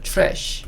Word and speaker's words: trash: 사실 t와 r이 이렇게 딱 붙어 있으면 이 t를요 추 소리를 내요. 그래서 이거는 trash 이라고도 발음을 합니다.